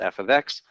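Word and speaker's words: f(x): It's pronounced f of x, but we're not worried about that this semester.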